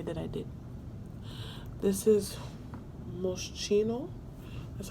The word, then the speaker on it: Moschino: This is Moschino. That's how you pronounce it.